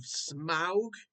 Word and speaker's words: Smaug: That is The Desolation of Smaug, which is how you say it.